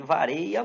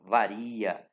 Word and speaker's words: varia: da farinha do Açaí vareia muito você vai ouvir isso né com tudo você tem que lembrar que eu o que a a linguagem formal exige que se pronuncia a palavra varia tranquilo a diferença vamos